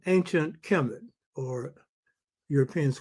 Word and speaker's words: Kemet: So vowels are put in so you can pronounce it. So Kemet ke me t.